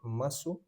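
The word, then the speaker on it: ます: When a world word ends in s like in des or masu the u gets whispered or dropped completely written masu spoken m i is always e in Japanese.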